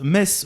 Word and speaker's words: Metz: c'est gentil de nous mettre sur le chat Metz le thé se prononce pas mais écris-le mezz alors comme ça on dit Metz tu vois c'est pas grave erreur classique du